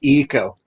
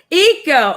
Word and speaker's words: Ico: uh by the way my name is pronounced eco eco okay well i was